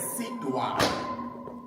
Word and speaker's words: Sudwala: So guys, the name in Siswati is pronounced as Sidwa, and that name means a grass skirt of a married woman.